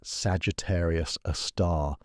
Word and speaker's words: Sagittarius A*: This cosmic monster bears the designation Sagittarius a star. Pronounced Sagittarius a star.